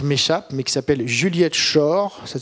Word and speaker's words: Schor: là le titre m'échappe, mais qui s'appelle Juliette Schor, ça s'écrit S-C-H-O-R, Juliette Schor.